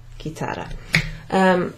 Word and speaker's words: chitarra: So, as it happens, it's not spelt with a G, it's spelt with a C-H, so it's a chi. Like in the question, who? Chi? Chi è? Chi è la porta? Eccetera. Okay, la tua chitarra.